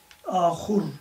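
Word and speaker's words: آخور: Yazılışları aynı. Burada ahur kelimesinin ahur vavla yazılmış şekli de vardır. Ama bazen de kısaltılarak vavsız da yazılır ama ahur okunur. Öbür kelime ise ahir okunur.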